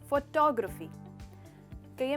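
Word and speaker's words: photographic: यहाँ पे हमारा स्ट्रेस होता है ग्र पर, तो फोटोग्राफिक।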